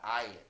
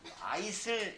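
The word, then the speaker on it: aisle: 가로질러 그리고 요거는 발음이요 S 발음을 안해 그래서 아이리야 아일 아일 그래서 만약에 뭐 참가석을 원하시나요 속눈썹을 원하시나요 산까서 윈도우 스위트 통로서 r시트야 아이슬 이거 아니고 아이스잇 보통 비행기의 통로가 이렇게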